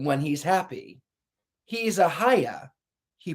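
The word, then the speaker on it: Haigha: he's happy he's a haya he pronounced it so that it would with oh ahaya he pronounced it so that it would rhyme with mayor mayor i love my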